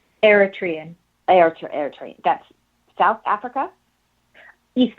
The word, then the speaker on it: Eritrean: when you you said you were from an air train background am i pronouncing that correctly eritrean aerotrain that's south africa east africa it's uh